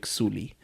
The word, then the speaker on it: Sully: here yeah mhm Jake Suli um that was the the lead guy's name Sam worlington his name was Jake Sully but they all pronounce it J Suli oh sorry but that